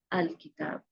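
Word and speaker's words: الْكِتَابُ: The correct one is, this is kitabun, a book. You need to remove n sound, that is one dhamma, and it becomes al-kitab, the book. So you can see here we need to remove this one.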